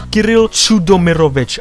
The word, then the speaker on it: Kiril Chudomovich: Now the name itself is pronounced as Kiril Chudomovich. I've seen a lot of people struggle with saying his name. And all I can recommend is that you divide the name into sections then you'll be able to pronounce the name easily.